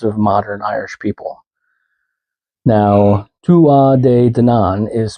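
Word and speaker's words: Tuatha Dé Danann: Now, Tua de Danann is spelled Tuatha space DE space DANANN. Tua de Danann.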